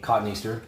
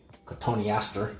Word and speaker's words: Cotoneaster: one of my katanasters aka cotton easter aka tony aster depending on how you want to pronounce it i call that a